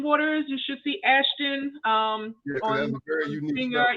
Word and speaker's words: Aschten: It's Aschten Waters. You should see Aschten. That's a very unique finger. Yeah, that's how it's spelled. It's spelled like Ashton Kutcher, just spelled a little differently.